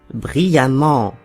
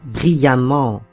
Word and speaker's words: brillamment: d'obtenir un adverbe de manière par exemple brillant brillamment fait attention à la prononciation de cet adverbe brillamment pour les adjectifs en ent nous ajoutons e